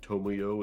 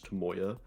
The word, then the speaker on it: Tomoyo: Instead of like Tomoyo, it's Tomoya.